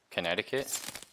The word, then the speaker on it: Connecticut: Connect I cut. Oh, fuck off. No, that's not how you say it. Is it? Learn to spell me. Like, that's just the spelling. Technically it's Connecticut.